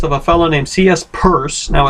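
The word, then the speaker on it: Peirce: a fellow named C.S purse now it's spelled p-e-i-r-c-e but it's pronounced purse and he was a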